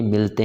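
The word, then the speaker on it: Malé: इसकी राजधानी है माले मेल और माले दोनों की स्पेलिंग सेम होती है मेल को हिंदी में पुरुष कहते हैं और माले को हिंदी में माले कहते हैं इस पर आप कंफ्यूजन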